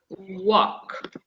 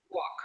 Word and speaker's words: walk: here in the H in the pronunciation we don't pronounce the L the L is silent so the correct pronunciation is walk okay walk no l okay look